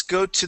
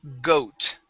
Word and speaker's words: goat: Let's go to the word goat. All right, Goat. instead of got, goat. Goat.